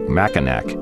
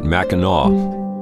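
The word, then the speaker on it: Mackinac: 17th surprise raid in capture of fork maak now pronounced Fort maau an American Trading Post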